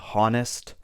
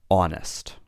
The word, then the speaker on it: honest: We say exhausted, ghost, hour, and honest. We don't say hour. We don't say honest. The H is silent, so we say hour or honest.